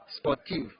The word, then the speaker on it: sportive: Sportive. The E at the end of V is silent. You not pronounce the E, only V. You end with V.